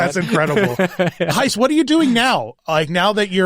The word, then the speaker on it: Gijs: I know my name is spelled in a very weird name but way, but that's how we spell things with No, they're they're